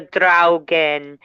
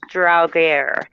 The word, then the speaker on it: Draugr: The Draugen, or it can also be pronounced Draugr, and it's also a Norse mythical creature.